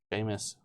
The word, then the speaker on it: Seamus: Seamus. We know how to pronounce it now. I'm pretty sure Yeah. Vaughn corrected us because I don't apparently speak Irish.